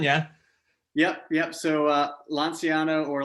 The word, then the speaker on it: Lanciano: yep yep so uh lonziano or lonciano uh is how the italians pronounce it was the like is